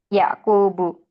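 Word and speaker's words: يَعْقُوبُ: memastikan ya m membacanya tidak boleh ada tanwin bukan sulaimanun atau daudun atau ayubun tapi ayyubu sulaimanu yaquubu nah seperti itu jelas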